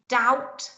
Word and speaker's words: doubt: letters are in there in doubt you've got that b haven't you where's that come from it's your silent letter we got solemn tomb